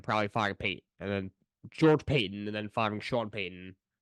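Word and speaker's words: George Paton: And then George Payton and then firing Sean Payton. It might be George Patton, actually, is how it's pronounced, but get rid of both of them.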